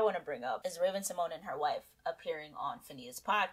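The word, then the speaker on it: Raven-Symoné: it on my FY Raven Simone my name is pronounced Raven Simon Simone beloved from a lot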